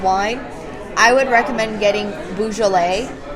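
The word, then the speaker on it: Beaujolais: know something about wine I would recommend getting balet it's spelled b auau like B and then j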